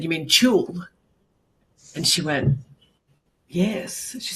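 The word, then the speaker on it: tulle: I said, "You mean chul?" And she went, "Yes." She said, "Is that is that how it's pronounced?" And I said, "Yeah, it's a French word, chul."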